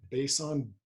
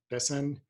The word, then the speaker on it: besan: they typically add i don't know how to pronounce it bason besan b-e-s-a-n which is chickpea flour but probably not